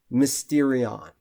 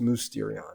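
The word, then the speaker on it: μυστήριον: challenge is where you see that Greek word Mysterion okay and it's actually pronounced musterion actually movesterion mosterion and I I want you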